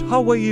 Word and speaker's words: Hawaii: They are mountainous, and the summits of Hawaii pronounced Hawaii rise to 14 or 15,000 feet.